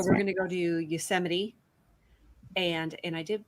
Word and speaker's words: Yosemite: national park so we're going to go to yosemite and and i did pronounce that correctly yes yosemite and we're also going to go to kings